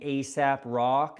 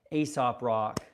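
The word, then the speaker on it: Aesop Rock: I like a guy named ASAP Rock. Not ASAP, but Ae. Wait, Ae. Asop rock. There we go. That might be a little bit more uh the way to pronounce it.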